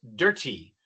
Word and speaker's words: dirty: En los Estados Unidos no decimos dirty, así hablan en Inglaterra. Nosotros decimos dirty.